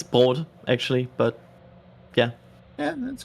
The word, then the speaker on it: Brot: I think a Broat. I mean, that's just bread in German. Oh, cool. Say it with basically me, chat. Broat. Broat. It's Brot, actually, but yeah.